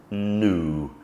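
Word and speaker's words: gnu: letter in the alphabet g is silent when followed by N I gave you an example earlier gnome another example is new the animal new um there aren't many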